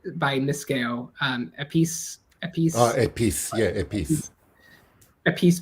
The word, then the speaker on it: Épice: Or I would also say I've been thinking of I don't know how you pronounce it well in French. Épicé by Miskeo. Épice.